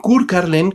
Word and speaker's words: Körkarlen: Además, la carreta fantasma o Kurkarlen, como más o menos se debe de pronunciar en aquel idioma, es una película ideal para comenzar el año.